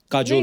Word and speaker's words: Kajol: बड़ा यूनिक नाम है आपका, काजोल। काजल है ना, but काजल होता है, काजोल हाँ, मतलब बंगाली में काजोल।